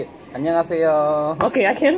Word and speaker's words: 안녕하세요: 안녕. 하세요. 하세요. 안녕 하세요. Yep. Oh, okay. You're really good. The only thing I know from like any Asian countries is konnichiwa. Say it. 안녕하세요.